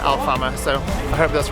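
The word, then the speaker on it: Alfama: towards a place called alfana i hope i'm pronouncing that right our hotel except just pronounced it al farmer so i hope that's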